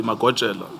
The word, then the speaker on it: Magojela: Naidu, where the deceased is, it's spelled as Majoela, but we know this to be Magojela, Timson Yes.